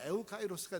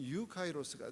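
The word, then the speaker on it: εὐκαίρως: 근데 이제이 유를 쓰는데에 뭐 스페니식으로 하면 에우카이로스가 되겠지만 그냥 그쪽 발음으로는 유카이로스가 돼요.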